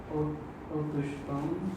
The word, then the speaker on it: autochtone: des photos, rencontrer des autochtones, des autochtones. les autochtones, Autochtones. des autochtones. On prononce le CH ici, tu le prononces que ton. Donc autochtone.